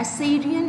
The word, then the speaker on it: Assyrian: एसेरियन actually एसीरियन क्या होता है? एसीरियन इज़ a tribe, okay, the pronunciation is एसीरियन, okay.